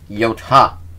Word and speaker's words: Yota: It's Yota, not Yoda. Though they do are pronounced very similar.